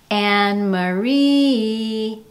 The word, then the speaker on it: Anne-Marie: The ma of my name is unstressed. That syllable has less emphasis.